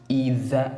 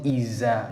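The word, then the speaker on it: إذا: The very first z sound, you place your tongue between the teeth, which is tha tha. And when you pronounce in this, it becomes itha tha tha, not iza, not sharp za.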